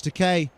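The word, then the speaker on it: Takei: George Teay rhymes with gay.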